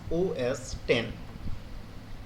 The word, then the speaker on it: OS X: ऑल ऑफ the recent version are known as ओएस एक्स, ठीक है, pronounce OS 10।